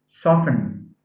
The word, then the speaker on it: soften: end as a suffix soften yeah soft has a t as a phoneme but soften has a silent t so it says soften